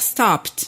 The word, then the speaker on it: stopped: Donc, par exemple, tous les verbes finissant en P, en son P, en comme P. to stop, To stop. ça va faire stopped.